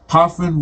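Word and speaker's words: Ghafran: But you don't pronounce the G. The G is silent. G-H-A-F-R-A-N. And they pronounce it Hafra. Hafran.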